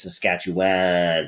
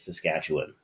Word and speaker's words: Saskatchewan: I mean, they always hit the wrong syllable. Mhm. Most of them, it's Saskatchewan, and it's like no, it's Saskatchewan. I would, yeah, I pronounce it Saskatchewan.